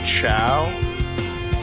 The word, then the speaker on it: Chao: Like, Wait, they pronounce it Chow? yeah, If it's short for chaos, it should be pronounced cow.